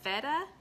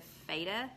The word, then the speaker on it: feta: but if you care it has an S sound so Fanta but at feta feta so it's feta instead of fader it's better okay I believe you I'll